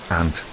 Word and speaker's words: aunt: Some people say they think I'm saying ant as in the um and I do pronounce it exactly the same. ant the crawly animal crawly little insect and um the my